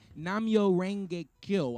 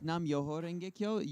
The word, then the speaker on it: Nam Myoho Renge Kyo: So, and when you say Namyo Renge Kyo, I automatically think of Tina Turner. Did I say it right? It is it's Nam Myoho Renge Kyo.